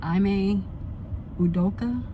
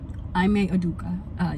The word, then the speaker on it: Ime Udoka: Long and her fiance, and I want to pronounce his name as Ime Udoka, but I may be incorrect, so please forgive me if that's completely wrong and completely butchered.